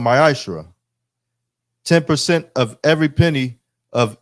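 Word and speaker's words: מעשר: Means tenth in Hebrew and is pronounced ma'ashra.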